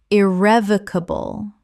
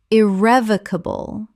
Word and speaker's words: irrevocable: Common mispronunciation, irrevocable. Correct pronunciation, irrevocable. 5 syllables with the stress on the second.